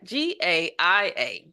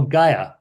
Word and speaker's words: Gaia: because I was like what is GI i g a i a how do you pronounce that oh Gaia Gaia and what's a Gaia so Gaia is